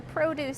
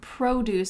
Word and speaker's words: produce: Notice that I said the word produce section. This just means where you can buy fruits and vegetables. But let's pay attention to the pronunciation of that word produce. The emphasis is at the beginning.